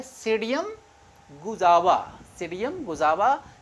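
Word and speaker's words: Psidium: और जो इसका साइंटिफिक नेम क्या है, ये है सीडियम गुजावा। सीडियम गुजावा, क्योंकि यहाँ पी जो है वो साइलेंट है, इसलिए वो पी नहीं पढ़ा जाएगा, और इसका सीडियम क्या हो गया, गुजावा हो जाएगा।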